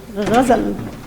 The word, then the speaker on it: ghazal: Ghazal. It's that letter Ghain.